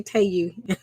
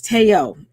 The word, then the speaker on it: Tayo: Somebody said I say Tayu. I said it wrong. It's Tayo.